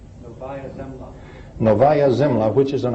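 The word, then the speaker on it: Novaya Zemlya: Uh this one shows and I can't begin begin to pronounce that name. Can you say that for me off the slide? Nova Zimla.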